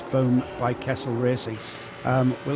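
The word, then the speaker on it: Boem: ran boom car bum I'm saying boom it's spelled b or e m I'm trying to say it kind of a German Swiss German Way Bo German speaker behind me is saying boom boom right it's Boom by Kastle racing um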